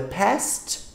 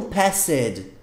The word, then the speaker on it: passed: E não passed. Não é passed. Eu tô pronunciando past, você tem que entender que é past. Eu não falei passed, então não coloque E nessa pronúncia.